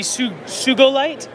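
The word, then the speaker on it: Sugilite: In Japan, you pronounce G as go, not J. Interesting. So would it be Sugolite?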